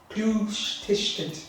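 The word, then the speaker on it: cluastuiscint: The Clústishtent, how do you say the word? Clústishtent.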